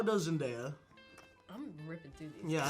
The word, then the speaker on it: Zendaya: Els actors brutals, està el Timothée Chalamet, crec que es diu així, i la How does Zendaya? I'm ripping through these. Yeah, I know. Pronounce her name. Zendaya.